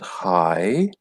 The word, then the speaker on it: high: side wide deep and high high again a difficult one to pronounce because people see the GH and they panic forget about them just say hi it's exactly the same it's just saying hi and then on the